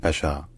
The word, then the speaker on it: Pasha: the 16th century in Turkish this name is pronounced Pas Pas Pas Pasha all right if you enjoy learning our pronunciations